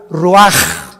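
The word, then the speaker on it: רוח: Roach así como suena se pronuncia la c en hebreo como J ruaj se le só y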